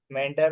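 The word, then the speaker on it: meander: Second, हाँ मेंढर उसका pronunciation सही है।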